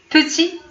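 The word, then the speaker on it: petit: بتي ما نطقناش هاد تي ما بانش، ولكن في الكتابه بانت، هو صغير.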